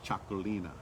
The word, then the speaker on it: Txakolina: And it looks like you don't even want to try to pronounce it, but it's Cholina. Choline. Chugaline. Chalini is the is the Yeah, it very sounds like it almost sounds like chocolate to me.